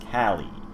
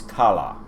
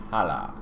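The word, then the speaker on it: Calla: good rulers daughter princess cali cali check my pronunciation here yep princess kala c-a-l-l-a kala thus they the gummies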